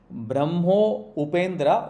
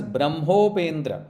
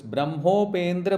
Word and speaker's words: ब्रह्मोपेन्द्र: So if you say as Brahmo Upendra, it is wrong. You are defeating the Sanskrit. It is then you should say Brahma Upendra. It comes as Brahmopendra as one word. So it is Brahmopendra Mahendradi.